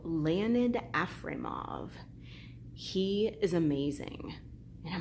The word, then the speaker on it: Afremov: It's Leonid, like how you would spell it, and Afremov, kind of how it sounds, Afremov, Leonid Afremov.